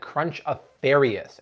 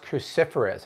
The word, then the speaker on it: cruciferous: years years no joke I've been calling that crunch a Farias and then I was doing out Instagram stories and people kept sending me messages it's pronounced cruciferous and I'm like words love who where I'm